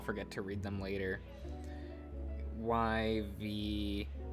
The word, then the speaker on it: Yvonne: In French, this is normally said as Yvonne. Yvonne. Yvonne. In English, consequently, this is normally pronounced as Yvonne. Hello, Yvonne's?